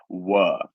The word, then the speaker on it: were: So in English, in British English, we use a lot of almost what I would call a lazy R. A lazy R. When it comes to American or some other accents, in some other ways of speaking, they would pronounce the R as almost a curved sound.